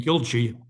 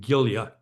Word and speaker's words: Gilje: I will also switch without thinking between Gilje, the most common American pronunciation, and Gilje, a more Norwegian pronunciation.